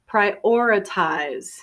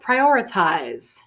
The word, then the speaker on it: prioritize: I need to prioritize some people put a strong stress on the second syllable prioritize some people connect it a little bit more prioritize so all right the